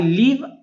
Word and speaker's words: live: यहाँ LIVE लीव पढ़ा जाता है, लीव। भी का उच्चारण आप भ नहीं करेंगे, आप व करेंगे।